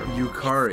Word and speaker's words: Yukari: How do you pronounce that right there? Yukari.